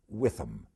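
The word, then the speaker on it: Whitham: was a e Witham I think that's the way you'd pronounce it I don't want to take too many chances on a British name because sometimes an American may not do justice but w-h-i-t-h-a-m would be the spelling in case you want to follow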